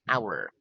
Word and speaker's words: hour: For example, we say an hour because the H is silent, not a hour.